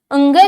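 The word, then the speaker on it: ङ: का पांचवा वर्ण है जिसका उच्चारण क्या होता है अंग की तरह होता है जिसका उच्चारण अंग की तरह होता है अड़ नहीं होता ध्यान देना फिर देखो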